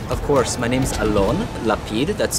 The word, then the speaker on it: Alon Lapid: Of course, my name's Alon Lapid. That's spelled A-L-O-N-L-A-P-I-D.